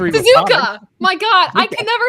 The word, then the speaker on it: Suzuka: Suzuk I can never say this right. I learned to read with phonics. What? I learned to read Suzuka.